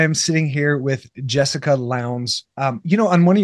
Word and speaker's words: Lowndes: Lowndes, I don't know, the D confuses people. But it rhymes with pounds, so Jessica Lowndes.